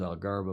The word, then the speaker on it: Algarve: gem on The Algarve this is pronounced by angles algara by the locals and the the rata